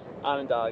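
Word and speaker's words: Onondaga: court advantage but let's see if you can pronounce these words ready Ananda Ananda Ananda yes baheim bohim close bohim closer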